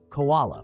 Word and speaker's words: koala: Koala, pronounced as koala. The ko sounds like ko in coal. The ah sounds like the ah in car. The la sounds like la in llama.